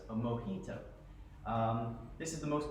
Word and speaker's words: mojito: cubans made it a mojito and it's called a mojito uh as a j instead because in spanish they pronounce the j's in an h instead so it's a mojito um this is the